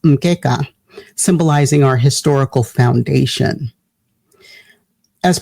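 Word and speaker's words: mkeka: canara is a map a mat which is pronounced mka symbolizing our historical Foundation as part of K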